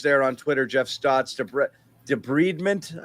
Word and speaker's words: debridement: One of the doctors there on Twitter, Jeff Stotts, debridement, I've been told is pronunciation, not debridement.